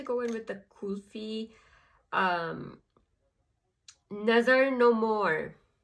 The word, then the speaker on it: Nazar: in with the Kunufa Nazar No More. My mom used to pronounce Nazar like Nudger.